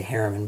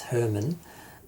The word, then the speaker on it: Herrmann: I want to say Harriman, but it's Herman, played Herman, and Veronica